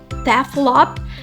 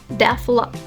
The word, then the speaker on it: develop: So a common mistakes is when people say develop and they put the word stress at the first syllables develop.